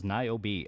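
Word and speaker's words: Niobe: Uh, Naobbi is pronounced as Naobi.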